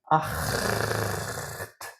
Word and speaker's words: acht: And acht is a different kind of CH again.